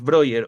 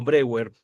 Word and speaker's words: Breuer: tanto una obra de Sigmund Freud como de Joseph Breuer o Breuer, ajá, se puede pronunciar como ustedes gusten. Breuer, como latinizándolo. Creo que se lee como Breuer. Ajá.